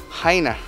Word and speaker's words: Chania: with a CH a ni a but it's pronounced Heine okay this is a small town in the